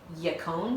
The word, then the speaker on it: yacon: say it wrong, is yacon syrup. Oh. So it looks like bacon with Y.